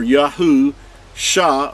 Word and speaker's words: Yahusha: part so you have the name Yahweh or yahu sha or salvation put them together you have yahusha